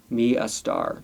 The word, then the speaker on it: Starr: Starr. That's how she pronounces it. Oh, like she's a star.